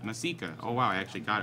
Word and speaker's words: Masika: And because you guys messed up the last time donation, the last name's pronounced Masika.